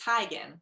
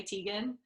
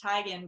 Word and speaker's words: Teigen: last year though just it's technically tygan right but she like accepts that people say tegan because everyone always calls her chrissy teigen yeah we've just been publicly mispronouncing her name yeah and she just like casually like dropped that information one day and she's like by the way it's tigen but i just never correct it rough and i still